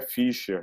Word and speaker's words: Fischer: Na realidade, a pronúncia é Fischer, né, que tem o treminha, então não se preocupe, Fischer.